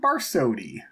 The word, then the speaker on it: Barsotti: box called a computer is my friend Barsotti from Chico, California. You nailed that. You nailed the name, the pronunciation, everything.